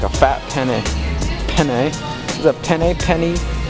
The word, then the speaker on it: penne: Not pen, but penne? Penne, how do you say that?